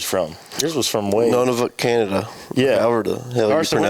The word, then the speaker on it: Nunavut: Nunavut, Canada. Yeah. However the hell you pronounce it. What did you say, none of it, Canada? Yeah, Nunavut. Oh, Nunavut. Yeah. However you I thought you said none of it.